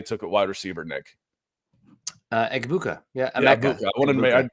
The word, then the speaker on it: Egbuka: You pronounce the Abuka. Who's the guy they took at wide receiver, Nick? Egbuka.